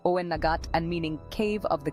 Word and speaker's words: Owenagat: Some of these creatures escaped via Owenagat Cave, pronounced Owenagat and meaning Cave of the Cats.